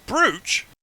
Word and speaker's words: brooch: Brooch? Brooch. It's the way it's spelt is double Pronounced O.